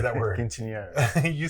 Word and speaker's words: Quinceañera: Quinceañera.